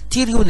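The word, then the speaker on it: pterion: هذه الدايره السنتر بتاعها يسموه تيريون، تيريون البي سايلنت، وهذه منطقه خطيره لانها تماثلها من الداخل، يناظرها من الداخل شريان خطير اسمه فرانتال بانت اوف ذا ميدل منينجيال ارتري.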